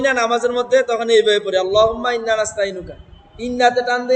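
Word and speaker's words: اللهم: আল্লাহুম্মা আল্লাহুম্মা আল্লাহ না আল্লাহ আল্লাহ ল হবে মোটা হবে উচ্চারণটা হুম্মা এটা একটা গুন্না ওয়াজিব গুন্না বলা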